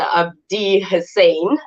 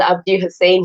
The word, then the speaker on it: Abdi Hussein: Abdi Hussein. I did pronounce it right, right? Yes. Yes, Mr. Abdi Hussein.